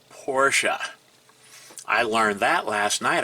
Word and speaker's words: Porsche: And no, it's not pronounced Porsche. It's pronounced Porsche.